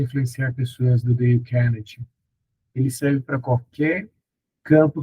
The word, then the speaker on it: Dale Carnegie: O nome é Dale Carnegie, a pronúncia, mas é Dale, D-A-L-E, Carnegie, foi em PDF, tá?